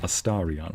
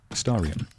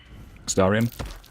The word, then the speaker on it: Astarion: Somebody made fun of me last time for saying Astarion with like an O. It's a habit. Astarion.